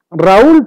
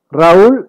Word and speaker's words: Raúl: Tenemos Raúl, por ejemplo. Raúl es una vocal abierta A y una cerrada U. Pero ¿qué es lo que pasa? Como se encuentra acentuada, se considera como un hiato.